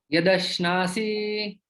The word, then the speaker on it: यदश्नासि: और ये यद अश्नासी, ये जो श है इसमें जीवा आगे रहती है, तो इन दोनों में उच्चारण में थोड़ा सा भेद होता है, उसको हम उस प्रकार से उच्चारण कर सकते हैं।